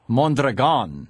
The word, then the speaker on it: Mondragon: do you pronounce Mondragon with the accent on the last syllable Mon that are gone okay and Mon are